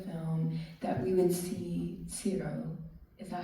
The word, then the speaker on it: Ciro: I kept noticing during the film that we would see Ciro. Is that how you pronounce it?